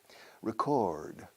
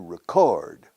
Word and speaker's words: record: are recording a class the verb is to record a record same spelling we stress the first syllable we stress very strongly the second record and a record